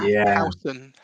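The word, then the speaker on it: Huijsen: Housen.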